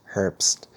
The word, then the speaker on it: Herbst: here now um thank you Tom Dr Thomas Herpst did I say that right herps you said